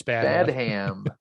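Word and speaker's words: Badham: right i think it's bad ham okay would that be great if that was your name and that was your thing to always correct people bad hands it's actually bad ham pronounced like batman but bad hand i'm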